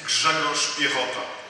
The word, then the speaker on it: Grzegorz Piechota: Nobody can pronounce my name, I guess, in this room. I'm originally Polish, and my name is Grzegorz Piechota. Can you try? Greg is easier. It's an American version.